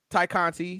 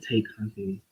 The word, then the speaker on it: Tay Conti: I really like Tay Conti. I do too. Ty Conti, yeah. I do Sorry, too. I really like Tay Conti. Because it's spelled Tay, but you know.